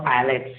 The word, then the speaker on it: islet: One more very important thing, before the name of any group of islands or islets. Keep in mind, S is not pronounced here.